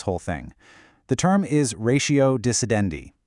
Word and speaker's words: ratio decidendi: The term is ratio decidendi. It's Latin, pronounced ratio decidendi.